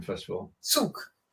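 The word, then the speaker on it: Zug: pronunciation first of all Suk more like TS yeah that's whyat Suk okay that's angut um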